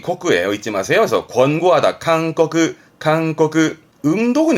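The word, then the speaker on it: 勧告: 칸꺼그 이 고자 발음은 음독이 코크예요. 잊지 마세요. 그래서 권고하다 칸꺼그 음독은 이 정도고요.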